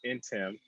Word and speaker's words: Ntim: Dude, Ntim, so yeah, you said it right. you explained, you pronounce. So if you see him on LinkedIn, it's like saying William and Yeah, Tim.